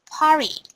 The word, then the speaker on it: party: Yeah, we don't pronounce sound t because we have spoken English and we pronounce it party without Party.